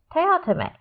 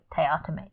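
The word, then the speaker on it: Teatime: kind of went, okay, I pronounced it wrong, so I'm going to start saying it Teotime. So every time that I read it, I'm like, Teotime, Teotime.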